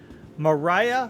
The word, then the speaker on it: Mirai: Mariah MX no more I'm saying it wrong Mariah Fury and Mariah Fury MX